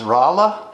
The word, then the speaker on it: Rolla: we are in uh i always mispronounce it it's rolla rolla yes missouri in the